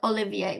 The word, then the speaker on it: Olivier: Is that how you pronounce it? Yeah, Salad? yeah. Well, yes, we say salad Olivier, which is really, it's a Russian dish that